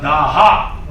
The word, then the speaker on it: daha: called dasas in Iranian in Persian you don't pronounce the S you pronounce it as H when we say s they say h when we say Dasa they say they say uh daha daha right and when